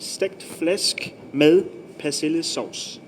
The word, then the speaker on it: stegt flæsk med persillesauce: So this dish is stegt flæsk med persillesauce. That's what the dish is called, and it just means belly pork with parsley sauce. So the pronunciation? So pronunciation stegt flæsk med persillesauce.